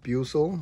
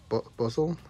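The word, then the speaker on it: Buizel: pretty cool then uh Buel Buel buzzel I always forget how to say his name I think it's Buel right I love him I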